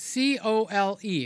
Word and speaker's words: Cole: kelaw yeah it's it's c o l e it's Cole you know like the like the guy's name cole what's your name my name is Cole okay so it's supposed to be cole slaw but with the